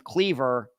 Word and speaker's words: Cleaver: He pronounced his last name Cleaver, but there were a bunch of other families in the Leechburg area with that last name. They pronounced their last name Clever.